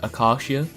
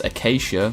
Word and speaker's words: Acacia: neo Akasha from toriko my understanding of the pronunciation is that it is Akasha that's how it's said in Japanese at least so I'm going to use that for this video if you think it's Acacia like the tree then that's fine whatever